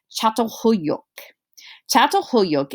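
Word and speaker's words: Çatalhöyük: to lead to farming villages like this is pronounced chateau hoyok is the largest of the farming villages that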